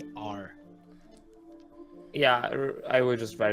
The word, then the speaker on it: Rezmir: Don't get near Resmir. Resmir. Resmir is a name of a person, or Yes. okay, I will just write that down then. Wait. Don't get near Resmir. Yeah. Was it Resmir? Rezmir.